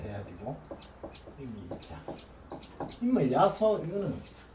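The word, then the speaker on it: 耶穌: 되고 임이 있자 임의 야소 이거는 예수 이거는 뭐 앞에 여러 번 나왔고 예. 야소 우리 발음은 야소 중국 발음은 그대로 예수 이 중국서 번역된 거기 때문에 예. 그대로 중국 발음 그대로 예수입니다.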